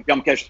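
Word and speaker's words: Byomkesh: In Bengali, we pronounce the name very differently. Mm-hmm. But when the Hindi audience pronounces it, it becomes very different, and Bengalis get very angry with that. In Hindi they would say Byamkesh Bakshi, but yeah. In Bengali it would be Byamkesh Bakshi. Yes.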